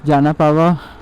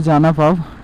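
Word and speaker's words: Janapav: ওখানে বোর্ড লাগানো আছে জানা পাওয়া জানা পাব ওকে জানা পাব জায়গাটার নাম হচ্ছে জানা পাব তো জানা পাব হচ্ছে যে দু কিলোমিটার আমি ভুল প্রোনাউন্সিয়েশন করছিলাম তো জায়গাটার নাম হচ্ছে জানা পাব এখানে কিন্তু সেগুন গাছ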